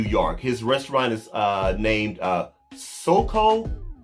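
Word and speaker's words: Soco: Soko, I believe that's the correct pronunciation of the restaurant name. You guys can correct me down in the comment section if I'm wrong, but I know it's spelled S-O-C-O.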